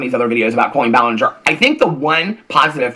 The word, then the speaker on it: Colleen Ballinger: made about Colleen Ballinger we know that Colleen Ballinger is how it is pronounced so that's the one